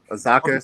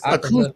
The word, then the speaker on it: Akaza: Is it Something Azaka? Akaza. Right?